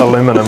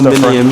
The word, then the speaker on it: aluminium: And just for the American viewers, yep, oh no, fully aware, in New Zealand we pronounce aluminium, aluminium, not aluminum. We spell it different, it's pronounced aluminium.